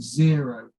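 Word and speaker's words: Xero: an online finance system called zero spelt with an x um many of you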